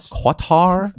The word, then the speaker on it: Qatar: East Country for them cutter selling the sexy lineup cutter is it is a guitar uh I've heard it pronounced quatar sorry Qatar no cybertruck yet Tesla